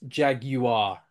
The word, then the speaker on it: jaguar: name is um so in British the word is actually pronounced Jaguar uh with three syllables no no no eron